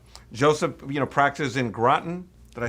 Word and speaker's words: Groton: Joseph, you know, practices in Groton. Did I say it right? Groton, Connecticut. That's correct. Groton, Connecticut.